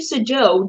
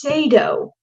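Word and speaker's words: Sadow: Trump's attorney Steve Sajo just stood up and asked if CNN was in the gallery to confirm to say his name. It's Sado. So I've been saying it wrong also, but so it appears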